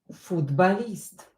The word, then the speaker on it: футболист: Артур – футболист. Футболист. Артур is a football player. Артур – футболист. Or, not stress, pronounce it as A.